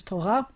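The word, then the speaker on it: תורה: torah and the hebrew the modern sephardic pronunciation is torah it's related to the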